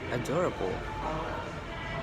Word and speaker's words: adorable: There's an E at the end, but it doesn't sound like an E. We say adorable.